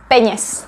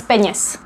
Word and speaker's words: peněz: It's always with genitive, and besides, it rhymes. So it's bez peněz, bez peněz.